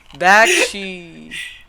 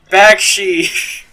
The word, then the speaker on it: Bakshi: Bakshi. Bakshi. Yeah, that's how you say it.